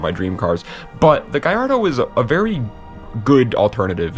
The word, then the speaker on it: Gallardo: I used to always pronounce it Gallardo, but then I started watching like videos of British people pronouncing it Gallardo, and they sound so fancy.